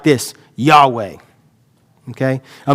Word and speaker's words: Yahweh: And we understand that to be pronounced probably like this, Yahweh. Okay? A mispronunciation of that would be like Jehovah.